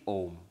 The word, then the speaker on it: Om: But don't pronounce it as Aum, because the rules of Sanskrit grammar say when you add A and U together, it becomes O. So the correct pronunciation is Om.